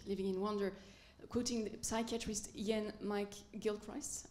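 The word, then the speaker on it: Iain McGilchrist: in wonder quoting psychiatrist Yan mik Gilchrist I pronouncing Yan M Gilchrist yes he claims that the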